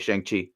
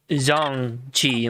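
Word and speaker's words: Shang-Chi: you uh tell me what's going on with shang chi it's actually pronounced zhong chi like it's like a song but with the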